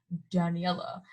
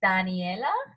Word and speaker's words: Daniela: He's like, Daniela. And I'm just like, my name is like Spanish, so it's Daniela.